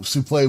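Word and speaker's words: soufflé: Also, souffle would be the proper pronunciation. Yeah. Yeah. I mean, that's just, if you know how words are read in French, that's just how it works, which is weird because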